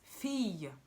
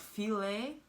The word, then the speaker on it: fille: Double L in French is pronounced like that sound. Y, fille. So it's not fille, it's not filet, but it's fille, fille.